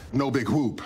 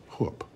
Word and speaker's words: whoop: It is, as Peralta would say, no big whoop. But I actually don't pronounce the H in whoop.